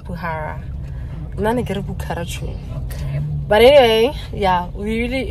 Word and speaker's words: Bukhara: are we going to do Sage apparently it's pronounced bhara but anyway yeah we really enjoy it actually